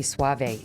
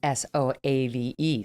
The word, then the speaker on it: Soave: joined today by robbie suave it's a fun last name because it's spelled s-o-a-v-e so you're like sove soav but it's suave and he's senior editor